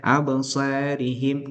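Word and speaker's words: أبصارهم: Bacanya adalah abasarihim, namanya taklil, yaitu bunyi antara fathah dengan imalah.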